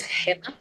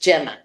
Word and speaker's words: Gemma: I'm originally from Spain, and my name is Gemma, but in English it's pronounced Gemma. So it means gemstone. So Gemma or Gemma, whichever one you're more comfortable with.